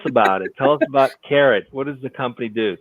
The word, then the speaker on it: Karat: all right it's actually i think it's pronounced carrot am i it isn't right here i did it and yeah i didn't want to jump in but no that's okay it's definitely carrot you know it's all